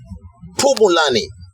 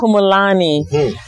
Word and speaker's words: Pumulani: Am I pronouncing it right? Yeah, you did. You are. And I'm very impressed because people will be butchering that name. Yeah. Pumulani.